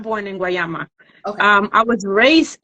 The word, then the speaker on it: Guayama: right but no I was not born in guayama okay um I was raised in guayama I